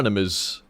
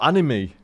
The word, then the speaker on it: anime: days and stuff like would call it anime or anim anim yeah an anim or animy I must confess I also used to know it as anim before I I knew anything about it don't thank me for pronouncing it correct it was cool the